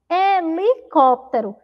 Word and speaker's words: helicóptero: mandou não sabe pior quando a gente pronuncia helicóptero tem som de É né mas helicóptero começa com H lembra que a pro